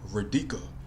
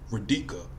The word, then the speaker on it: Rika: repeatedly mispronounce Rica's name he kept calling her radika Rika hey Rika come here